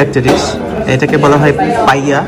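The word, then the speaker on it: paella: এটাকে বলা হয় পাইয়া, যদিও লেখা দেখে মনে হয় পায়লা, কিন্তু এটার উচ্চারণ হচ্ছে কি পাইয়া।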